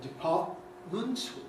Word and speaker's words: department: Instead of writing department with two T symbols, we might choose to write department to the glottal stop, which is certainly the most usual pronunciation in this word, and therefore a word internal.